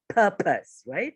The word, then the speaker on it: purpose: so it's purpose and it's explosive sound so you should feel the power of your breath purpose right so it's an explosive